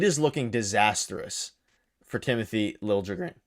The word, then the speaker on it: Liljegren: I just went ahead and, because we're talking about trades, I looked at Timothy Liljegren, I think is how you pronounce it now.